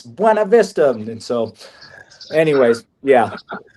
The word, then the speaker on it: Buena Vista: So, and coming from a Hispanic background, yes, it is Buena Vista is what it's written. But the lady that founded this place, so I'm sure I'm making mistakes. She wanted it pronounced Buena Vista. That way you know who was local and who wasn't, and it was something like that.